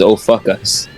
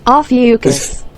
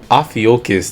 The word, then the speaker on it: Ophiuchus: The way my coworker pronounced this is "oh fuck us."